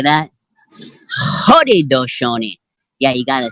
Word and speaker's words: Haudenosaunee: East Coast here, the Haudenosaunee people, and we pronounce it. If you can say this with me out there in the internet world, Haudenosaunee, right? Haudenosaunee. You say that? Haudenosaunee.